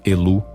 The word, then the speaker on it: Ilu: apelando ao Deus supremo el pronunciado elu em ugaritico que reside na nascente